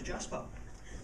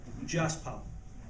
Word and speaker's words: Jasper: Mine's Jasper. 2 syllables. Yeah, easy, right? Just the 2 syllables. Jasper. How many ways can you get that wrong? You can think of one, go. Jazz pal.